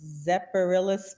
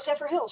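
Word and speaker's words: Zephyrhills: She says, I don't know how to pronounce it, Zephyrillis, Florida, a good area to invest? Oh, Zephyr Hills, sure.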